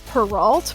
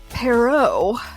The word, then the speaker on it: Perrault: mispronouncing two names so i have always heard it said charles perrault but it's come to my attention that that's anglicized and it's wrong so it's actually charles perrault and in my defense